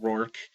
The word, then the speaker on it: Roarke: where it was the same spelling and it's pronounced roor um so I'm going to have to pronounce